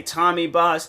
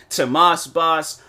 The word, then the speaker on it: TMossBoss: I've heard people say Tommy Boss, TMossBoss, freaking. What are some other ways people have pronounced my name?